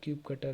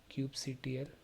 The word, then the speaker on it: kubectl: Set up cube cutter length. We pronounce it like cube cutter. You can also pronounce it like cube CTL. Like EKS CTL.